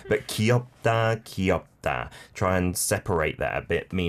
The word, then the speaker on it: 귀엽다: Great, but I think I noticed that many people say 귀엽다. Yeah, almost like it's just one syllable. 귀엽. Right, but we 귀엽다. don't really say 귀엽다. We say 귀엽다. 귀엽다. It's three syllables.